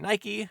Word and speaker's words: Nike: They named the line Nike, the name of the Greek goddess of victory, although said goddess's pronunciation is more like Nike.